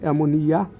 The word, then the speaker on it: অ্যামোনিয়া: আর এটা মিলে যাবে না মানে দুই থ একটা উপরে যাবে এটা নিয়ে যাবে এমোনিয়া মানে হা করার মত আর এটাকে অ্যামোনিয়াম মানে মুখ অফ করার মত আশা করি বুঝতে পারতেছো